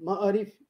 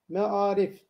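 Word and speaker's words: معارف: Yani ma'arif kimse demez. Ma'arif de mesela demiyoruz. Buradaki o bakın sesten yola çıkarak ne yapabiliriz? Şu şekilde yazarız. Me'arif.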